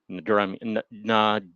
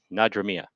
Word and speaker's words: Nadramia: Gilmore and Peggy Nadramia. This is a hard one to pronounce. I'd like to see you try and pronounce it. Nadramia.